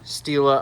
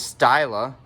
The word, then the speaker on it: Stila: the dress and - steela items I'm finally pronouncing right first as I was still uh I was told strongly I thought was styler and I'm told I'm wrong Stila to steal items